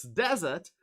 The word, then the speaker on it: desert: see okay any ideas which syllable is stressed it's desert is it right yes it's desert and the second word